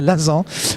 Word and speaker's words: Lasan: Alors vous regardez le deuxième sujet, Katia Lazan, puisqu'on doit prononcer à la française, Katia Lazan, pour le deuxième sujet de Gueule d'ange.